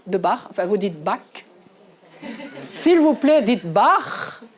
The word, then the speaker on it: Bach: Les Français disent Bach, moi je dis Bach, parce qu'en Suisse, il y a aussi la langue nationale allemande, donc je le prononce à l'allemand.